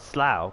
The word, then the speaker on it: Slough: as slur and then the o the u makes an ow sound sl and then i